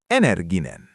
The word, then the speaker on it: energinen: And the word for energetic is easy, because it sounds like English, energinen.